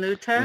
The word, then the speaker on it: Luther: max lieberman martin luther martin luther th sounds like a tea wolfgang amadeus mozart wolfgang